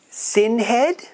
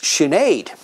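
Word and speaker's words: Sinéad: no and that's siobhan how about this one sin head no that's sinead and how about this one anne ko me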